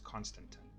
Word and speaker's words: constantan: Now the procedure really for making electrum solder, and constantan, which Google tells me is pronounced thusly. I have wondered that for a long time. Google tells me it is constantan, right?